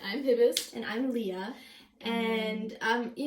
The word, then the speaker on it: Hibst: well, you might have seen how my name is spelled, and it's actually Hibst, and a lot of people, how do you say it?